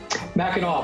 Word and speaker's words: Mackinac: Mackinac, but thanks for having me.